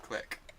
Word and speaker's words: Clique: I think I've been told off for saying Clique instead of Click, in fact.